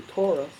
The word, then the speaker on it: torus: It's a torus. Rhymes with thesaurus.